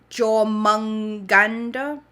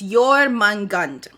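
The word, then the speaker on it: Jörmungandr: That's so wrong. I should figure out how to pronounce this. Jormungandr. That's not right. Hold on. Let's figure out how to pronounce this. Jormungandr. Okay, it's Jormungandr, also known as the Midgard serpent in Norse mythology.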